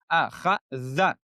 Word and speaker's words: أخذ: Again, three letters all have the fatha. All three letters have the fatha. So all the letters to pronounce, we open our mouths. أخذ. أخذ. فتحة. خ فتحة. خ. Zal, remember Zal, one of the letters that you have to use your tongue. Akhadha, akhadha.